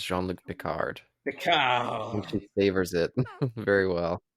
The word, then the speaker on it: Picard: Like she may be the first person to pronounce Picard's name with French flair. There's no D. There's no D on it when she says it.